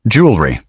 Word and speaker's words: jewelry: Many learners pronounce every letter, but in natural American English, you'll usually hear something closer to jew-el-ry. In fast speech, it may even sound like jew-el-ry. Both are common.